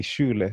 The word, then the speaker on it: shule: Schul, which is school in German, but in Kiswahili we say Schule. In Kiswahili, shule for school.